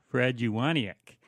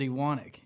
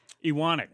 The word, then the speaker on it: Ewanuick: Because I've always said Fred Ewanuick. But yeah, that's wrong, isn't it? Well, yeah, but it's we pronounce it Ewanuick. Ewanuick.